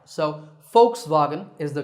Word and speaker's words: Volkswagen: was sound but a the sound so folks Vagan is the correct way to say it alright